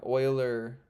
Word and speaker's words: Euler: it going welcome back I've been pronouncing youer wrong my entire whole life apparently yeah me too apparent